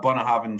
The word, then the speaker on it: Bunnahabhain: non-aged expression of bonner having and it's a bunner haven studio so that's the first whiskey that we're